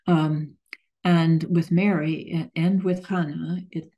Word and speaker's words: Hannah: the same name as Hannah. In Greek, there's no strong H pronunciation, and so all those from Hebrew get lost.